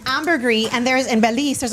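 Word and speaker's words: ambergris: It's pronounced amberree.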